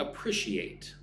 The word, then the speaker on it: appreciate: So, I'd appreciate, right? I would be grateful. I would love it if you gave me your input. Look at the word appreciate. She ate. Appreciate. Four syllables.